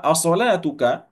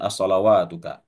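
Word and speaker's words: أَصَلَاتُكَ: As-salatuka. Ini dibacanya as-salatuka, Bapak Ibu, bukan as-salawatuka. As-salatuka. Apakah solatmu?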